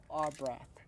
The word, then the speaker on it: Ar'braf: And I'd like to welcome to Straight Up R. Braff.